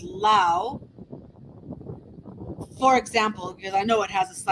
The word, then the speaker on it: Laos: I mean, I complain about the French silent letters, like Lao. You know that it's not Laos. That S is a silent S, and apparently the reason